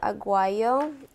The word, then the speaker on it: aguayo: a Guang AG oh I say with the G aw aw aw ay why you we're staying in South America say it like that did you know that